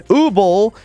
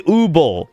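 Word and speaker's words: Übel: They don't know how to pronounce it. Japanese don't know how to pronounce German. It has oo louts over the u. It should be ubble.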